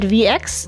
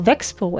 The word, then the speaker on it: Vexo: She's only going to be virtually, but at VX No, Vexo actually is how you say it.